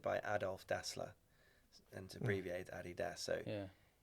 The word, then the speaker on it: Adidas: basically means yes manager you say Adidas or Adidas Adidas yeah does everyone else there say Adidas no they say Adidas because it's the brand is started by Adolf dler and abbreviate Adidas so yeah it's it